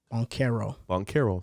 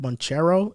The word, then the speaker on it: Banchero: maybe get Banchero. Boncaro. Thank you. That's how you say it. I mean, I guess Wait, probably like Holmgren. Italians probably pronounce it Boncero, and probably Americans pronounce it Boncaro.